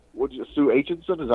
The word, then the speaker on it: Aitchison: That sit there in the offices like Sue Aitchison. Is that how you pronounce her last name? Aitchison, yeah.